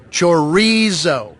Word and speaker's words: chorizo: Chorizo. Chorizo. Chorizo. Chorizo. Chorizo. I feel like I'm saying what you're saying. No, roll your R, like ribs or burrito.